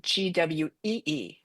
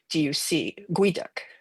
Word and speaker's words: geoduck: It's a Nisqually term, a guiduc. Even though it's spelled Geoduck, it's pronounced like Gweeduc, guiduc.